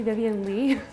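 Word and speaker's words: Vivien Leigh: And then come to find out, I've never actually heard her name pronounced on film, and it's actually Vivian Leigh.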